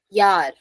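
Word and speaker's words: Jahr: if a word is starting from J pronunciation y so Yar yeah J A HR Yar if a word is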